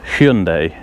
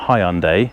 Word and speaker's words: Hyundai: how to say it it's Hyundai isn't it it's not Hyundai it's Hyundai that is technically the correct way but you say it